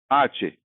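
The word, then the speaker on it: hache: English में हम इस लेटर को एच कहते हैं और ये आवाज देता है ह की, लेकिन स्पेनिश में इस लेटर का नाम है आचे और ये लगभग लगभग कोई आवाज नहीं देता, ये साइलेंट है।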